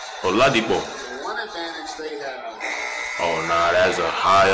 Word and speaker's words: Oladipo: Oladipo. That's how they actually pronounce it, but I'm giving y'all the American version. Oladipo.